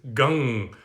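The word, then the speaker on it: गं: for the bija mantra the seed sound uh at the beginning is more like g-u-n-g rather than just g-a-n so someone asks uh sounds like you pronounce gun not gum um right so uh it's written gum g-a-m with a dot uh transliterated but the actual sanskrit is gang which is more of that nasally sound uh like a g-u-n-g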